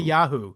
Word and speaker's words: Isaiah: Yasayahu is the how they would have said it back then. Right. And Americans say Isaiah, don't they? Typically, generally, yeah. But English people say Isaiah.